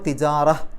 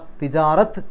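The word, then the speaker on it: تجارة: അപ്പോൾ തിജാറ, തിജാറ, തിജാറത്ത് എന്നല്ല. അവിടെ പലപ്പോഴും തെറ്റിയിട്ട് നിർത്തുമ്പോൾ വമിനത് തിജാറത്ത് എന്ന് പറയും, കാരണം അവിടെ താ ആണ് അവസാനത്തിൽ. പക്ഷേ പാരായണം നിർത്തുമ്പോൾ അവിടെ സുക്കൂനുള്ള ഹാ ആണെന്ന് വിചാരിച്ച് തിജാറ, ഹ് എന്നുള്ള ഉച്ചാരണമാണ് അവിടെ അവസാനം കൊടുക്കേണ്ടത് നിർത്തുകയാണെങ്കിൽ.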